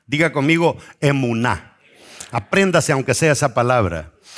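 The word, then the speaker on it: אמונה: Amén tiene la misma raíz hebrea de una palabra que se pronuncia emuná. Diga conmigo emuná.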